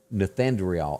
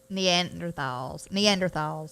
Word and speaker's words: Neanderthals: And they were called Nethandrial. How do you say that word? Neanderthals. That's a tough one for me to say.